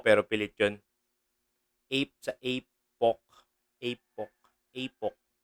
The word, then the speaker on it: Apoc: Ape sa Apok. Apok. Apok. Yung bigkas niya kasi, apok.